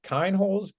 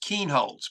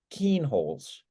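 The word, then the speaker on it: Kienholz: body but talking about 2023 four-star quarterback Lincoln kind holes no no it's pronounced Keen holds by the way yeah go ahead talking about four-star quarterback Lincoln Keen holds um out of Pierce South Dakota T.F Riggs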